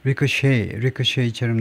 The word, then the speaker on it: ricochet: choose 이렇게 CH가 치 발음을 내면 이게 영국식 단어고 그다음에 CH가 쉬 발음을 내면 여기서처럼 ricochet처럼 내면 전부 다 프랑스에서 온 단어다 그죠?